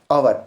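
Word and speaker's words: hour: और तीसरा ऑनेस्ट अब देखो पहले क्या है अवर हा ओ यू आर ओवर यहां पर पहले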